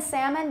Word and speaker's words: salmon: half salmon palm almond now half and salmon they never have an l that's produced or that's sorry that's pronounced but palm almond can